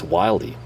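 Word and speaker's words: Wilde: done my absolute best to ensure that I pronounce this correctly it's wildy somebody you're like wildy what junk are you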